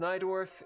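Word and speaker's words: Najdorf: You say it's pronounced Nydorf.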